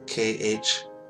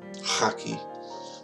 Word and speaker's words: Khaki: Please remember Brother Amin Haki, that's K-H-A-K-I. We would pronounce it Khaki, but in Farsi it's Haki.